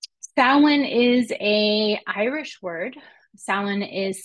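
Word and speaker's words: Samhain: us thank you Stalin is a Irish word Salin is spelled s-a-m-h-a-i-n it is an Irish word and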